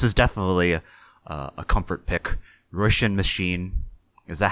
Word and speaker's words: Róisín: right, and I was saying Róisín Machine, but you looked it up and it's actually Róisín Machine.